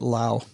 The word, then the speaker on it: Laos: When I was in Southeast Asia, they were pronouncing it Lao instead of Laos.